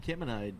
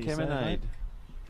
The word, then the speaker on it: Kemenade: Van Kemenade. Van Kemenade. Like lemonade.